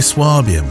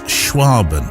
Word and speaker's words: Schwaben: you're a well I was going to say swabian but the correct pronunciation is schwaben is that right photographer a region of Southwest